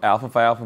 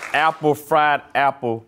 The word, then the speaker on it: Alpha Phi Alpha: So what happened was my students mispronounced my fraternity. So I'm a part of Alpha Phi Alpha Fraternity Incorporated. 06 to the good, bro. Yeah. Absolutely. But my students thought I said Apple Fried Apple Paternity, and they mispronounced that all the way.